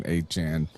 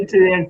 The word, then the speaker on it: Etienne: I refuse to call Etienne HN. Me too. I know, even though that's the proper way to say it, Dude, apparently. I've been saying Etienne for so long, since his brother was at Clemson.